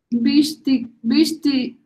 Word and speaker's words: wichtigsten: Wichtigsten. Wichtigsten. Wichtig, no, wichtig, mira, pronuncia, esta es una palabra, wichtig, y luego sten, el superlativo, wichtigsten.